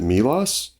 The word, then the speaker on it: Milas: also say about about the pronunciation of my last name I've heard it all and roxan gay uh pronounces it MOS so in that case sometimes I will defer to that pronunciation it makes you sound fancier I'm going to I